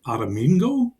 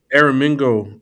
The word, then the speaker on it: Aramingo: Is it Armingo? Aramingo.